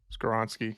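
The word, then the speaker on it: Skoronski: Skowronski. Skoronsky. Skowronski.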